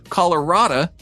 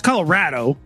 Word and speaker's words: Colorado: after all i've yet to hear anyone say colorada from john well it's colorado yeah and and yeah i think what you